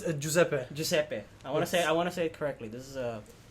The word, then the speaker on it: Giuseppe: not the easiest thing to pronounce, but it's Giuseppe. Giuseppe. Giuseppe. Am I saying that correctly? That is correct. Say it one more time. Giuseppe.